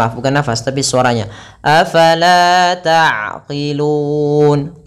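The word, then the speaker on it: تَعْقِلُونَ: Afala ta'qilun. Qi, bukan kilun, jangan kaf tapi qi.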